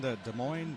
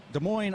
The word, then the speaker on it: Des Moines: from Columbia South Carolina Des Moines Derby brats from Des Moines Iowa the final s is silent as I were as